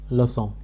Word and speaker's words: leçon: Third example leçon. lu son. In English leçon.